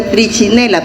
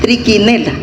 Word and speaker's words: Trichinella: En parásitos se acostumbra de que, por ejemplo, si uno escribe trichinella, así, no se dice trichinella porque la CH es Q, entonces tiene que decir trichinella. Y en parásitos tienen que